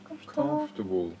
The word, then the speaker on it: comfortable: Do not stay comfortable。あの comfortable。 OR って書いてあるけど R はあんまり発音しないから。